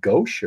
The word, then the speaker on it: gouache: I think it's called gouache or oil gouache or something gouache or gouache.